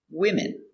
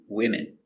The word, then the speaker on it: women: or more three four women one woman two women let's look at the pronunciation closer pronunciation women 2 3 4 women W I wi M whim I wh n women women women let's practice